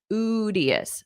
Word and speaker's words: studious: Notice that pronunciation, studious, studious.